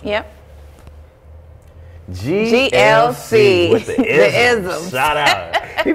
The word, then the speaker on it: Ism: It ism, as it's spelled, ISM.